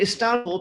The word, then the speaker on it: Istanbul: And I'm saying Istanbul because I use a Turkish limousine service. And because I always like to know what's going on in Turkey, and they pronounce it Istanbul, so I'll try to do that.